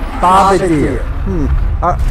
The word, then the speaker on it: Bombardier: As a military historian, it is in fact pronounced Bombardier.